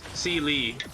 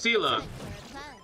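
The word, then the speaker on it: Seele: You just realized that you've been pronouncing Seela, Seeli. No matter. Yeah, it's Seela, it's Seela.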